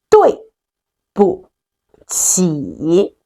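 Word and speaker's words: 对不起: 对不起对不起对不起.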